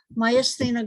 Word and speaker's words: myasthenia: it mycenia my athena okay so i said it right initially myasthenia gravis an autoimmune disorder